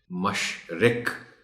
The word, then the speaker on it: مشرق: مشق بھی کروانی ہے۔ مشرق، مرغ رے پر جزم ہے، اس کا خاص خیال رکھا جانا چاہیے۔ عجب، جیم پر تھوڑا